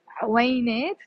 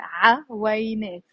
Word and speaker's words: عوينات: you can pronounce it عوينات two syllables or عوينات three syllables.